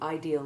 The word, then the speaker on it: ideal: Note that the words ideal and real are often mispronounced, as though they rhymed with real and deal. In fact, they have their two vowels sounded separately, because they belong to